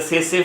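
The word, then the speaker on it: tsetse: So here you can see the sese fly, the T is silent.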